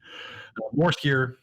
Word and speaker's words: Bjorskir: Skier. I will pronounce this correctly. I've got the phonetics on my screen. Borskier Bridge, which does have a fort and a small trading pop-up village around it.